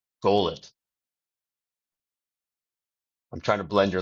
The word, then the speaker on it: Goel: Just for fun, you could say Goel. I'm trying to blend your last name into it. Ah, Goel. so actually the surname is pronounced Goyle.